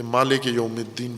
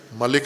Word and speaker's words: مالک یوم الدین: ہے وہ مالک ہے، کہ مالک یوم الدین پڑھیں، ملک نہ پڑھیں، مالک یوم الدین پڑھیں، تو یہ درست تلفظ ہے۔ ملک بھی اگر